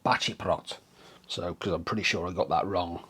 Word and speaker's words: Baceprot: message basically saying that he believes the c is pronounced with a c h so yeah i believe it's voice of batty plot so because i'm pretty